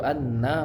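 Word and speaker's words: أنّ: tadi sudah saya contohkan jadi yang benar itu adalah asadu Anna Muhammad Rasulullah muhammadar rasulullah itu juga tasdidnya Anna ya itu allanya itu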